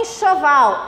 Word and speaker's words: enxoval: Porque na frente vem o em. Olha em seguida. O enxoval. Em na frente. Som de CH.